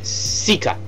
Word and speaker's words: Suica: this is called a suica now this one is okay sika sorry sika cause i because um su is pronounced as a regular s sound in japanese well these things of